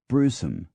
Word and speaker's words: Browsholme: Sometimes syllables are dropped out or blithely ignored, so that browsholme is pronounced Brewsome.